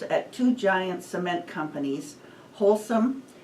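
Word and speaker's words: Holcim: two giant cement companies wholesome I think that's how it's pronounced it's spelled h o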